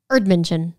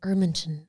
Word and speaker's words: Erdmännchen: Erdmännchen. Erdmännchen.